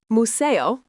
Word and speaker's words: museo: Museo, phát âm là moo-SAY-oh, nghĩa là bảo tàng.